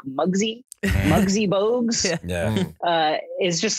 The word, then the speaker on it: Muggsy Bogues: The shortest ever, Muggsy Bogues. Muggsy Mogues, 5'3". Did I just say it wrong? I got the height right. Yeah. No, You he got the called height him right. Bugsy Mogues again.